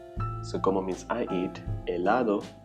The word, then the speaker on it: helado: Helado, remember it is silent.